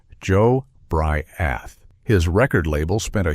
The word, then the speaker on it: Jobriath: His name was Joe Briath, pronounced Joe Bry-ath.